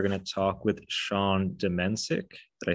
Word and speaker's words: Domencic: Today, we're going to talk with Sean Domencic.